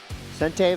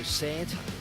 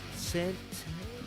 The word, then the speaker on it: Sante Valverde: You pronounce, I was going to just go Santa, but you pronounced it Sante. Sante? Sante sounds good.